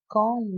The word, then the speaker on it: comb: brush the hair and comb my hair you don't pronounce letter b you say comb my hair right what's the difference